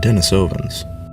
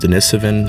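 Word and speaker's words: Denisovan: name humans, Neanderthalss, and Dennisovvens. Okay. Well, I just realized I've been saying Dennisovven this whole time when correctly it's pronounced Denisven. So, I'm going to be saying that for the rest of the video.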